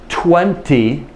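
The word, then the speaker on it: twenty: the number of course 20 but I and most people in the United States do not render the te at all in general 20 20 I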